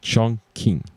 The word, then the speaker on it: Chongqing: And I don't know if I pronounce it well, but Chong, it's like as much as the way you pronounce Chong, but King, it's Q-I-N-G. G. Q-I-N-G. So Light Eye Chongqing.